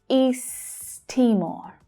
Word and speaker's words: East Timor: But note that there is a linking between these two words that happens when English is spoken, because east ends in the same consonant sound that Timor starts with. We can push those words together and we only pronounce the t sound once.